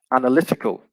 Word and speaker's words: analytical: adjective form would be analytical and so the stress actually switches to the third syllable in this case so